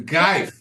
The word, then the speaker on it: Greif: Grief. No, you did it wrong. Rief. Yeah. It's Greif. It's a Geif.